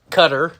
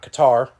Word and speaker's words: Qatar: for the world cup and cutter as i am now told that is pronounced not qatar usa soccer is in